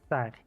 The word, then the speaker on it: Tsar: I mean, Technically, it is pronounced Tsar, but yes, it originates from the word Caesar, yeah, which like technically Julius originally Caesar.